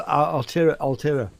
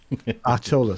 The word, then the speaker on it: Artola: And Paul Altera, I can't even pronounce his surname. Artola, sorry. Paul Artola.